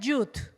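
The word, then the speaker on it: ח: como una coma pero se pronuncia jut het jut sí het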